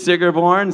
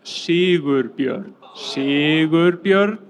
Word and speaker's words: Sigurbjörn: And another great streamer on Twitch is Sigurborn. Sigur's come up here. What's up, Sigur? I would like to do a little pronunciation test now. It's Sigurbjörn. Sigurbjörn. That's my name.